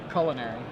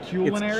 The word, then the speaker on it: culinary: word for example how do you pronounce the word c u l i n a r y culinary that is wrong is it culinary culinary interesting it is like it's probably not the most mispronounced word but it's probably up there culinary yeah I believe